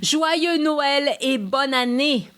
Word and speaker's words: Joyeux Noël et bonne année: Joyeux Noël et bonne année.